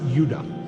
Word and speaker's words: Judah: were called benjamin and judah more properly pronounced yudah so this is what